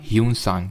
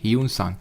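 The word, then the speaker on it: Hiuen Tsang: traveller था India में spelling I थिंक इसकी एच आई यू ई एन होती है ना यू सांग इसको ध्यान रखना कहीं-कहीं पे आपको जुआन जांग के नाम से भी मिले जुआंग जांग तो कंफ्यूज मत होना यह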